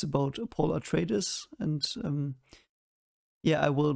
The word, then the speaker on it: Atreides: I will call them Atreides, even though they are probably pronounced Atreides, which is the Latin version, I think, because you, if there is an EI, you pronounce them separately, you know?